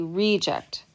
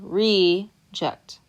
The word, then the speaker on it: reject: He's a reject. The stress is on the first syllable, reject. But if I want to say the verb to reject, I'm stressing on the second syllable.